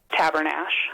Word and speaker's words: Tabernash: Our viewer Heather was hoping that we could settle a debate on the pronunciation. So we asked the fine people at Cousins Ranch Museum, what do you say? Tabernash.